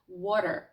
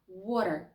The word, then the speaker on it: water: Water. Water. Water. Нам для цього потрібно взяти язик, торкнутися ним швидесенько і легесенького до верхнього піднебіння і миттєво його забрати. І миттєво ж його забрати. Water.